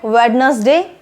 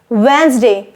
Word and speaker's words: Wednesday: do you call it Wednesday no the right way to pronounce it is Wednesday drop letter D whence and day Wednesday I am having test